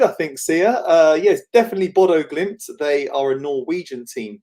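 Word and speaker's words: Bodø/Glimt: Yeah, your pronunciation seems pretty good, I think, Sia. Yes, definitely Bodo Glimt.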